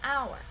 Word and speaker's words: hour: And with a noun that we use and with a noun that starts with a silent H. For example, an hour, right? I will be there in an hour. We use an even though there's an H because the H is silenced.